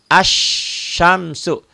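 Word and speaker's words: الشمس: Asyamsu. Lamnya dibaca enggak? Lamnya dibaca enggak? Enggak. Enggak. Kenapa enggak dibaca? Karena ada karena tidak ada tanda bacanya tuh ya. Karena tidak ada tanda baca.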